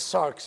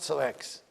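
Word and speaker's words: ⲥⲁⲣⲝ: This one is sarx, it's not sarex.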